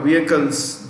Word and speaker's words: vehicle: In fact, all our vehicles, the H in vehicle is silent.